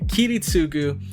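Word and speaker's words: Kiritsugu: in the last episode we began with a kitty sugu and did I say it right kitty -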